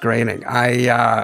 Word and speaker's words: Groening: It's pronounced Groening. That's what I said.